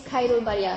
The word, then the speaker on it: Khairul: this is it right next my name is Cairo very long name very hard to pronounce but just call me okay not k-u